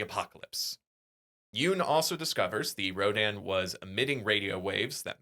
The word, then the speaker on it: Rodan: In Japan rodan's pronounced radon while in English it's usually rodan.